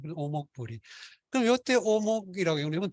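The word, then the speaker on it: 於穆不已: 근데 요게 이 어가 저기 공교롭게도 시경이나 여기 보면 어목불이 이렇게 돼 있어요. 이런 구절이 있어요. 문왕의 덕을 찬양하는 그 구절을 주. 근데 이때 이걸 어목으로 안 읽고 오목으로 읽습니다. 오목불이.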